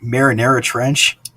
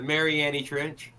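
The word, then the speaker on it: Mariana Trench: Did you say Marinara Trench? Yeah, I pronounced it wrong. I know. Sauce. I'm on some pain meds, so they're kicking in. The Mariani Trench.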